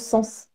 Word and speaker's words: Sens: belle vallée du sens est-ce que ça se prononce sens oui d'accord donc c'est assez rigolo aussi